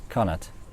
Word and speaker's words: Connacht: It's Connacht. Connacht, I have it. It's like a G sound. Is it? In Afrikaans G sound.